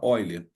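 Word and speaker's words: Euler: relação aqui fundamental de eiler apesar de se escrever eer se fala oiler número de vértices mais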